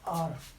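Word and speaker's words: hour: For example आर, ही इज एन आर late, वो 1 घंटा late है। इसको हमेशा हम आर प्रोनाउंस करेंगे, आवर प्रोनाउंस नहीं करेंगे, हावर प्रोनाउंस नहीं करेंगे, आर।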